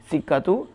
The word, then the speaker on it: سکہ: میں ہے والسکۃ بالکسری، سکۃ، یا بتا رہے ہیں کہ سکہ کو پڑھنا کیسے، اس کا صحیح تلفظ کیا ہے، السکۃ، سین کے نیچے زیر بالکسر، حدیدۃ منقوشۃ، حدیقۃ تتبع